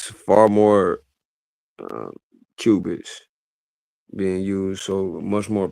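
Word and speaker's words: qubits: So cubis is you know, like a cubic, but they spell it with a qu u b i ts.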